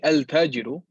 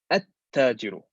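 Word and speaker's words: التاجر: Even look here, we don't say al-tajiru, we say at-tajiru. At-tajiru, not al-tajiru.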